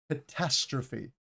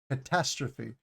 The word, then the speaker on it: catastrophe: this pronunciation we have catastrophe catastrophe the emphasis is on the second syllable catastrophe catastrophe and then